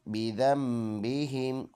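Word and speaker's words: بِذَنْبِهِمْ: बिज़म, बा ज़ेर बी, बिज़म्बि, हा मीम ज़ेर हिम, बिज़म्बिहिम। ये नून के ऊपर जो स्मॉल सा छोटा सा मीम है, इसको पढ़ना होता है बिज़म, नून उसकी जगह साइलेंट है, बिज़म्बिहिम।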